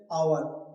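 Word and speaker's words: hour: जैसे आवर क्या? आवर। तो देखो ओ से पहले जो एच आया है यहां पर एच को नहीं बोल देना है।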